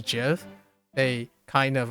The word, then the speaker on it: GIF: The creator of GIF actually said it's pronounced Yeah. GIF. Yep. Precisely in reference to the peanut butter brand.